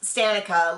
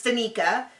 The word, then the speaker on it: Tanika: had to make sure I thought it was going to be pronounced stanika like Monica or whatever but it's Tanika she is 32 she